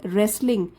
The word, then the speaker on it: wrestling: हो strange means अजीब रेसलिंग इसमें डब्लू साइलेंट है टी साइलेंट है रेसलिंग मतलब कुश्ती और